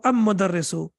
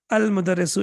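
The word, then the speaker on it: المدرس: Al-mudarrisu or am-mudarrisu? Al-mudarrisu, excellent. Al-babu or ababu? Ababu doesn't even make sense, right? It's difficult to pronounce it even.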